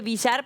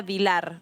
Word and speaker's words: Vilar: Perdón, yo le dije Villar, pero se pronuncia Vilar, ¿no? Y aparte lleva una sola L, y eso es un error, perdón, porque se convertiría en otra diputada.